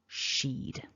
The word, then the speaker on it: she'd: on the pronunciation so your takeaway is that it needs to be one syllable sheed so if you found